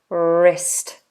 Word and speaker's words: wrist: joint and this is the wrist a silent w r so I tend to put the lip to the teeth and do wrist wrist wrist good okay let's just